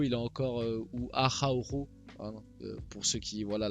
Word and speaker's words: Araujo: Et puis il y a Arroyo qui comme d'habitude, Xavi c'est habituel, à chaque fois que le Barça joue le Real, Arroyo joue latéral droit.